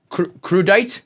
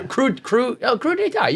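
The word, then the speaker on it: crudité: You're trying to say crudite? crudite. Yeah. Crudite. You were close, right? It's spelled like crudite. Yeah. But it's crudite.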